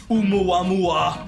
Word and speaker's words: Oumuamua: Okay, how do I pronounce this fucking title, by the way? Oumuamua Unamawa. is Oumuamua.